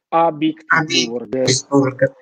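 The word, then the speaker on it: Habsburg: Ovviamente io ho una pronuncia tedesca pessima, ma sarebbe Abitburg.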